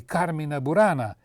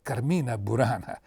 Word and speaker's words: Carmina Burana: One of the largest and most famous collections of Goliardic poetry is, or rather were, the Carmina Burana, and not Carmina Burana, as I hear it pronounced when a station broadcasts the excruciatingly long modern opera by the title.